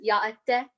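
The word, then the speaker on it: yá'át'ééh: You say hello is yaate.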